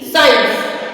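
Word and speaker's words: science: number four पे मतलब सी कहां पे साइलेंट प्रोनाउंस करता है अगर अगर सी के पहले अगर सी के पहले s हो तो सी साइलेंट होता है जहां पर एस के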